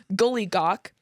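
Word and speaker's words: Giljagaur: The next one who comes out December 13th is Jill Jaguar. That's how it's spelled. It's not how it's pronounced, I'm sure. Gully Gawk, who steals any available milk.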